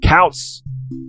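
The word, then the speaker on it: Koutz: important to note that his last name is spelled k-o-u-t-z i said couch k-o-u-t-z stephen is also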